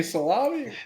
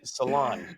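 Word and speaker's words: Salaün: Salami? Salon. How do you pronounce Dijon Salon. Like you get going to a salon or something like that. That's how you should say it.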